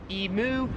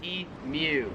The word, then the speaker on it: emu: differently is emu so Americans pronounce it emu Australians pronounce it U I recently did a